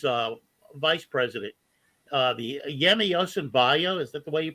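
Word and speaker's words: Yemi Osinbajo: impressed by buhari's uh vice president uh the yemi yosembayo is that the way you pronounce it yeah he I would vote for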